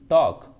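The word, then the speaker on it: talk: ऐसे ही आप चौक का आसानी से लिख सकते हैं, चौक, वॉक, टॉक, इसमें सभी में L साइलेंट होगा।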